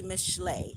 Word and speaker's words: Mishlei: Many of you know it as Proverbs in your particular language or in the Bible, but it's actually Mishle, which is spelled Mishlei.